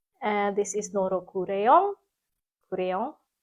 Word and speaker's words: Kureyon: Kureyon. I think it's is the Japanese pronunciation of crayon, and this is just a nice autumnal color.